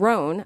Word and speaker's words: Rhone: And Roan, I gotta say, it's spelled R-H-O, N as in Nancy, E as in Edward.